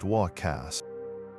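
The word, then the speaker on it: huaca: They recognized specific places as huakas, pronounced walkcast.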